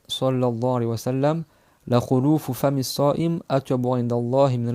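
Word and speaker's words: خلوف: Et le khuluf, on le prononce comme ça avec une dhamma sur le kha et sur le lam, c'est le changement.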